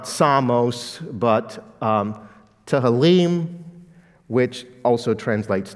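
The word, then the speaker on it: ψαλμός: You can't perhaps decipher the phonetic equivalents of the Greek letters, but that basically is pronounced psalmos. So when you say Psalms, you're speaking Greek.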